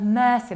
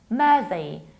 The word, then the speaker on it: Mersey: It's not mercy, like I'm begging you for mercy. We pronounce it like Mersey.